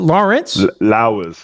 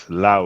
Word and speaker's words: Lowers: How do I pronounce it? Lawrence? Lowers. Oh, Lowers. I thought you said Lawrence.